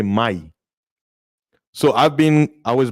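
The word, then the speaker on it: mayim: but they don't say in that language the m sound is silent so you say my so i've been i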